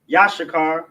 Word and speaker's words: Issachar: Yashakar. That's how you say it. Pronounce it. Ya. Sha. Sha. Ka. And Ra. Ya. Let me see if the connectors on this one. They're not there. Yash. It's Yashakar. Yes, like Yash. Sha. Kar. Yashakar.